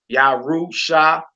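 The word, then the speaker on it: ירושלים: Yarushalayim. What word is that, my sister? Jerusalem. Jerusalem. All right. We put our emphasis over the lamed because the accent symbol is above the lamed.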